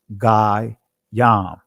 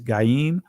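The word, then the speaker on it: גוים: Now you see this word, Gai Yam, right? I'm saying it from the ancient Hebrews, and the Israeli is Gaim, two nations.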